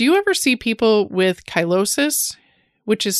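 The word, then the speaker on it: cheilosis: will follow do you ever see people with kylosis which is spelled c-h-e-i-l-o-s-i-s kylosis is related to B deficiencies or folate deficiencies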